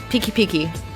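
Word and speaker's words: pikipiki: remember was peaky peaky that's spelled p-i-k-i twice peeky-peeky that is that's what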